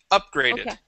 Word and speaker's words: upgraded: it is okay uh upgraded so stress at the beginning of the word upgraded upgraded all right nice